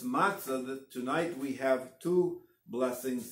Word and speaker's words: matzah: we eat and again it's English we say matzah but it's matzah is the proper Hebrew pronunciation again accent being on the less so